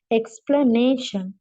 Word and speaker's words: explanation: the correct answer is the stret uh is on the on the on the third uh syllable explanation notice that the stress